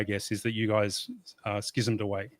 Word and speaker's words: schism: Well, the Greek word is schism, right? It's not it's not sism. Uh it's it's pronounced both ways in English.